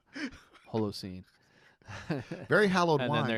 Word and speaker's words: Holocene: People call it Halocene. I'm like, no, it's an O. Holocene.